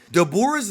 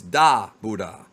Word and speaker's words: Dabura: it makes sense and it makes more sense in Japanese just because of the pronunciation of his name it's not dor you don't enunciate the Buu it's da buha but it doesn't matter